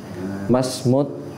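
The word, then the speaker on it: ما اسم التاجر: Mas harusnya bacanya kita wasolkan ya. Masmut.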